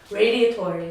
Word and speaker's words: Radiatori: Now, how do you say it? Radiotori. Radiotori. Yes, Radiotori. Like a radiator.